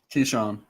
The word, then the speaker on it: Keyshawn: It is pronounced Keyshawn because he said, "Hey, it's there we Keyshawn." go. So confirmed from the man himself. Keyshawn.